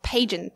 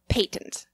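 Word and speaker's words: pageant: own name but yes it's not pagent that it's patent patent no patent that's how the British say it it's paint Lee obvious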